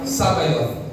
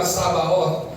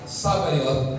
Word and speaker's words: Sabaoth: The correct pronunciation of that is Jehova Sabayot. Okay. Some pronounce it as Jehova Sabaot but it was it would be properly pronounced as Jehovah Sabayoth the Lord of hosts.